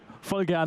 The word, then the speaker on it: voll gerne: So, voll gerne is the correct way to say it, just to make this very clear.